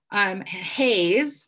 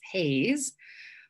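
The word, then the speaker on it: HAES: Haze, which is how Health at Every Size is pronounced as an acronym, H-A-E-S, Haze, exists because of prejudice around fatness.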